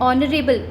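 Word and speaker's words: honorable: तो यहाँ पे एच है but sound ऑनरेबल, H silent है, ओके। ऑनरेबल बस साउंड आ रहा है, तो ओ वाला साउंड आ रहा है ना, ओ से ऑनरेबल, तो यहाँ पे एन लगेगा।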